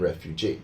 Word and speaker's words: refugee: And in refugee, with the EE, well, we pronounce it the same way as like employee or interviewee, so it's often used that way.